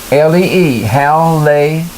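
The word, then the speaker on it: Hallee: Now some of these sayings are by Hal, H-A-L-L-E-E, Hal Lay.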